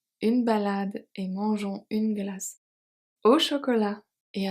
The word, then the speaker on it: glace: Une glace, so une glace, the final E is not pronounced, is silent, but it helps the C to become a soft C, to be pronounced as a S. Glace. Otherwise, it will be a hard C or it will be silent.